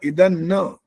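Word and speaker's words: इदन्न मम: अभी भी डरते डरते नहीं करा है, थोड़ा सा कम कर दिया, लेकिन बोला वही है, इधन न, न नहीं बोलना, इधन न।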